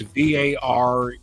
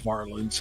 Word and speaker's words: Varelans: his name is Paul Varelans. It's Varelans. They always pronounced it wrong, but it's Varelans.